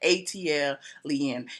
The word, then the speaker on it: ATLien: - else - else an ATL Yin is pronounced just like that ATL lien it stems from the Atlanta Airport code and